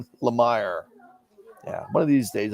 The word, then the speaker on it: Lemire: It's pronounced Lemure. Lemire.